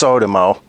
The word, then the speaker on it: Sotomo: It is pronounced Sodimo.